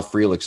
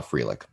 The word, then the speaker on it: Frelick: we've been saying sal frelick's name wrong for like the longest time we've been calling him frelick his name is frelick and he was one